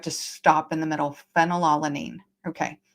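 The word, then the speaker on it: phenylalanine: Phenolanine. Okay. Even though that's spelled with a P, it says F right at the same spot.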